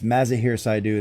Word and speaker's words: Mazahir Saidu: It's Mazahir Saidu. That's my bad for mispronouncing it.